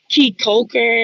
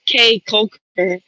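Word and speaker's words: Caye Caulker: Mind you guys, I kept pronouncing key Coker as K Coker and I think that's because of the English language. C A E is supposed to spell K, not key.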